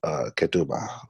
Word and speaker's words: ketubah: call Tituba say let me know if I'm pronouncing the proper Maury but ketubah or contract thank you hey y'all can see